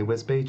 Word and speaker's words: Wisbech: I mean, we live near Wisbech, but it's spelled Wisbech. So before I heard people say Wisbech, Wisbech.